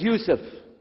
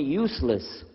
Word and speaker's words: Yusuf: we'll work on itah my name is Yousef can you say Yousef said Yousef you're very good I wish You' teach my wife she keeps mispronouncing it she calls me useless alhamdulillah now how many